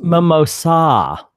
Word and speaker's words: mimosa: But yeah, it ended up pretty cool, and I got to try my first mimosa. Yeah, I'm sorry, it's pronounced mimosa.